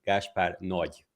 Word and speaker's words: Gáspár Nagy: The correct Hungarian pronunciation would be Gáspár Nagy.